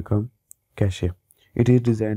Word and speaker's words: cache: कैश memory, कैशे memory, एक कैशे pronounced कैश इज a small and very fast memory.